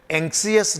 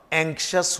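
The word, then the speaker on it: anxious: जिन शब्दों के लास्ट में IOUS आता है, स्पेसिफिकली अगर ये IOUS T या C या X या G के बाद अगर ये IOUS हो तो इस I का प्रोनाउंसिएशन नहीं किया जाता। तो ये टेनेशियस नहीं है, ये टेनेशियस है। कॉन्शियस नहीं होता, कॉन्शियस होता है। एम्बिशियस नहीं बोलेंगे, एम्बिशस बोलेंगे। क्लियर? एंक्सियस नहीं होगा, एंक्शस होगा।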